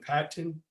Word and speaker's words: Patton: an unranked gap in patton uh sorry i pronounced my t's because i used to get if i didn't if i said pat and not that ten so like i i